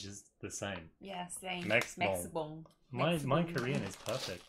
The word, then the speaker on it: Maxibon: Maxibon. Oh, it's just the same. Yeah, same. Maxibon.